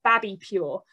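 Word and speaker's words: Babipur: lots of other stuff as well, is called Babby Pure. Which is spelled B-A-B-I-P-U-R.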